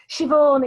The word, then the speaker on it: Siobhan: Siobhan, it's an Irish name. Siobhan. Yeah, Siobhan? Irish. Siobhan. Siobhan like Yvonne. Siobhan. You can say Siobhan if you're posh. Siobhan. Yeah. Well, yeah, Siobhan.